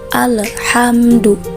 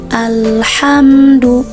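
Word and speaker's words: الحمد: Kebanyakan kita membacanya itu dipantulkan seperti ini, alhamdu. Padahal huruf lam itu bukan bagian dari qalqalah. Jadi cara membacanya tidak perlu dipantulkan ya. Cara membaca yang benar seperti ini, alhamdu.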